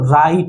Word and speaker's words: write: अब W के बगल में देखो कौन है, R है। अगर W के बगल में R आ जाए तो W क्या हो जाता है, साइलेंट। तो बच गया RIT। तो R का उच्चारण किससे होता है, र से, और I का उच्चारण ई से, I का उच्चारण ई से, और TE का ट से। तो राइट, ये क्या बन गया, राइट, राइट, WRIT, राइट।